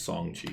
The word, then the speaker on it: Shang-Chi: song chi there's no it's not the sh it's just song chi okay that's the i guess the chinese pronunciation okay so song chi